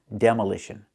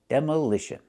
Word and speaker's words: demolition: And there's also a noun, demolition. We see how the stress moves. The stress is on the de and the ish. Demolish. Demolition. That's the noun.